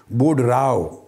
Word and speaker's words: Boudreaux: راؤ۔ Edward بوڈ راؤ، بوڈ راؤ کا spelling بھی note کر لیں، یہ مختلف ہے ساؤنڈنگ سے، وہ ہے BOUDREAUX، مگر ایکس سائلنٹ ہے بولنے میں، تو ایڈورڈ بوڈ راؤ کہیں گے۔ یہ بھی کیمسٹری کا